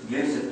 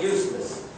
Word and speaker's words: Yusuf: My name is Yusuf. Can you say Yusuf? Yusuf. I said it perfectly. I don't know why they said it. They got it perfect. My wife, she still pronounces it useless. But I think it's a speech impediment.